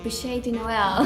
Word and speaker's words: bûche de Noël: All right, and this cake recipe that I can't pronounce, the bûche de Noël.